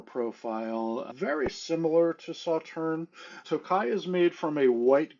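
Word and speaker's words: Tokaji: And the first thing we are going to talk about is a wine that is called Tokai. That is spelled T O K A J I.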